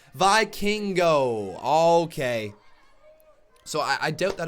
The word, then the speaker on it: Vikingo: I finally heard his name pronunciation. Vikingo.